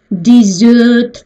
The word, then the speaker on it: dessert: А здесь десертная вилка dessert, ударение на второй слог.